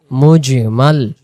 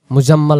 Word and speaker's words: মুজমাল: আমরা পঞ্চম নাম্বারে যে কালেমায় এখন পড়বো সে কালেমার নাম হলো ঈমানে মুজমাল ঈমান মুজমাল মুজাম্মাল আমরা অনেকে বলি মুজাম্মিল বা সেটা বাংলায় সুন্দর করে বলতে পারি মুজমাল মুজমাল ঈমানি মুজমাল অর্থ